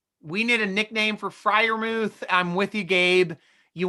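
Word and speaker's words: Freiermuth: can all pronounce because who knows how you do it fry like fly thank you i thought i was doing fryer move yeah drunk bastard [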